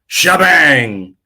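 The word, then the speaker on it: T'Jbang: his name I would say his name as TJ bang because it's t apostrophe J Bang but apparently according to the commercial is pronounced shabang so shabang shabang shebang shebangs oh baby but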